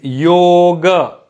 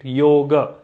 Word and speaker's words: yoga: it is yoga so there is an a sound at the end but it is not an extended a so yoga now i